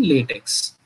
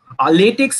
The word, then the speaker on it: LaTeX: create PPT while using LaTeX. So LaTeX is pronounced basically LaTeX, LaTeX, and many different ways, and it has been mentioned in Wikipedia as well.